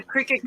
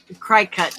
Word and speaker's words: Cricut: Cry cut basically is what? Yeah. But it's pronounced Cricut.